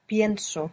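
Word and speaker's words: pienso: I think penso. Penso. There the e splits when we stress it.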